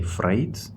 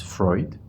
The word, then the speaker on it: Freud: yes and we also in Russian they say Freight in English we uh pronounce it as Freud so yeah it was Freud but his name